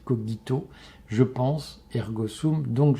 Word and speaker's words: cogito: Mais l'acte fondateur, c'est de se dire: je pense, cogito ergo sum, pour ceux qui prononcent le latin avec l'accent cicéronien, c'est pas cogito, c'est cogito, je pense, ergo sum, donc je suis.